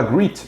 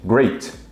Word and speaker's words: great: É claro que a gente não fala greet, e sim great.